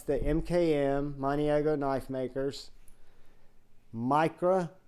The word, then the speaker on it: Mikro: Mikro, M-I-K-R-O, because my pronunciation is not going to sound like the spelling.